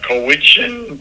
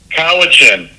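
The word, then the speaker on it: Cowichan: So, in British Columbia, they recently had a court ruling that the Kowichin tribe Kawichin Kathy just gave me the correct pronunciation. Kawichin tribes won in court for land rights um years ago.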